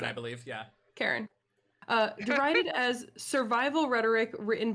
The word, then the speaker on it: Charon: I always forget how to pronounce Karen, that. I believe, yeah. Karen.